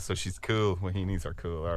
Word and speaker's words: wahine: Wahinis. Wahinis. Okay. Antoinette. I didn't know how to pronounce that, but yeah, same.